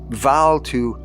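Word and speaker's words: Bvalltu: old man for help valtu for such approximately was the Philosopher's name the two being pronounced more or less as in Welsh Val to eved a cure by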